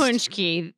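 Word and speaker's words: pączki: teach them how to say it first say punchki they are a um pastry that is made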